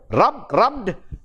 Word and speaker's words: rubbed: Second one, rubbed, adding de sound at the end.